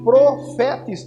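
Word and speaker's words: prophetes: Profetes, porque o PH se pronuncia F, então é profetes.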